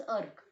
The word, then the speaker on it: erg: वो कभी कभी अर्ज भी प्रोनाउंस करते हैं लेकिन इट इज अर्ग.